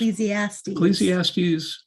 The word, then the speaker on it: Ecclesiastes: And there's actually a quote in this poem from Ecclesiastes. I think that's how you say it. Yes. Ecclesiastes.